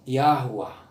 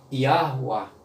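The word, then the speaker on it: יהוה: Vamos dizer assim que a pronúncia seria mais ou menos assim. Yahuwah. Yahuwah no hebraico. Yahuwah. No hebraico seria... Provavelmente essa seria a pronúncia.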